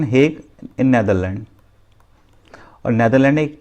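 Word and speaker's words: Hague: Different जितनी भी organisation हैं इनका headquarter the हेग, pronunciation हेग in Netherland.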